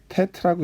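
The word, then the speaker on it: טית: 그 다음 단어는 자음은 테트입니다. 테트라고 읽고요. 쓰는 방법은 좀 복잡할 것 같지만 제가 연속해서 한번 써보겠습니다.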